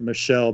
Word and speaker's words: Michel: I think they pronounce it Michelle, but yeah.